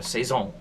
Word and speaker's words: Saison: a 6.5% Saison um it's a French name so you got sayone you know you got to say it right or else you get people mad you and stuff like